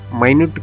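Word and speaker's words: minute: इस्तेमाल होता है लेकिन इसी शब्द का उच्चार माइनेट कर दे तो इसका मतलब होता है छोटी चीज यानी स्पेलिंग एक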